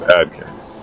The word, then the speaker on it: Adkins: that again Adkins yes kind of like the diet the Atkins diet but with a d instead of a t okay yeah Okay cool